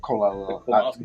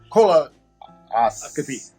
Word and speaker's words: colonoscopy: take when you do a how do you pronounce it? Colonoscopy. You put the P at the end. See, I would have jacked it all up. Colonoscopy.